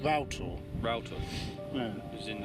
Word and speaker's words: Rough Tor: This is Little Rough Tor, and over there is Rough Tor, so actually pronounced Rough Tor. Rough Tor. Yeah. As in like a router. No, as in Row, meaning rough.